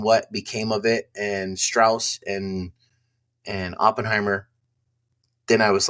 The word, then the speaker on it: Strauss: And it's pronounced Strauss.